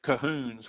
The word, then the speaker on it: Colquhoun: We go back to the Scottish Cahoons, which was spelled Colquhoun, but pronounced Cahoon.